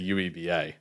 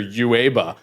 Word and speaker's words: UEBA: uba in there actually please don't pronounce that acronym I always make my team say ueba ueba I'm sorry ueba so much cooler than Yuba oh my God I also sometimes hear uaba I'm like I think